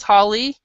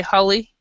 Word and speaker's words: Holly: Like, for example, they might call me, my name is Holly, and that's the American way to say it. They might say Holly, but it's Holly, and so this word is bossy.